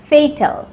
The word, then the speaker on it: Fatal: কিন্তু এফ এটি এই এল এই ওয়ার্ডের উচ্চারণ হয় ফেটাল।